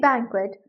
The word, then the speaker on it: banquet: यहां पर आप देखेंगे हमने वर्ड को टू सिलेबल्स में डिवाइड करके फर्स्ट वन को एज इट इज ही बोला है बी ए एन मतलब मैन और सेकंड सिलेबल की प्रोनंसिएशन एस हुई है क्योंकि क्यू यू इकट्ठा है उसकी प्रोनंसिएशन एज क्व हुई है एक कंपनी ने बहुत